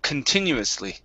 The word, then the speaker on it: continuously: the word okay um the stress is right here continuous okay we're going to say k instead of con okay K continuously continuously there you go that's